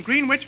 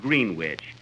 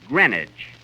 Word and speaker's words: Greenwich: I spent all day yesterday in Greenwich Village. Kenny, that's not Greenwich. You see, here in New York, it's pronounced Greenwich. Greenwich, see? Who did you go with?